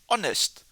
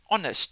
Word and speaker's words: honest: Again this word starts with a consonant but definitely we don't pronounce the H. So honest. honest.